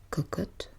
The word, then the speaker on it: cocotte: Et lorsque je prononce donc cocotte, je suis censée l'ouvrir.